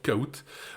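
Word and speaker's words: Kahoot!: tout ça c'est le nom de cette solution koout bah c'est plus qu'un simple outil de quiz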